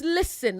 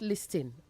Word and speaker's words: listen: And it's listen, not listing. Listen. The T is silent. Listen, not listen.